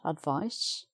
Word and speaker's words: advice: that's an s sound advice spelt with a c but s sound